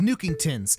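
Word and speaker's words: Nookington's: nuke's store after he upgrades his store to new kingtons and yes that is the correct way to pronounce it in classic animal crossing fashion you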